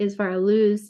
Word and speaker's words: Isvara Luz: It's spelled ISVARALUZ.